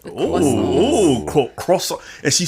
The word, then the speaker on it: croissant: have croissants. Croissants. Oh, croissant. And she said it right. Croissant. Wimby told us that we were saying croissants wrong. Yeah. And she said it right.